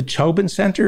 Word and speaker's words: Tobin Center: saying is the two the tobin center is that how it's pronounced yes are there tax dollars or